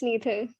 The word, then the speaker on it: Neethal: Next up, Nithal. Did I say it correctly? Yeah, it's Neethal.